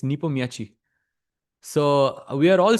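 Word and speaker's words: Nepomniachtchi: some way that would be very very fun Napo exactly actually the correct pronunciation is Nepo I actually heard it's Nepo Miachi so we are all saying it wrong bishop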